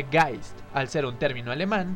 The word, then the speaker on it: Geist: de aquí ya que si bien se escribe hayes se pronuncia guys al ser un término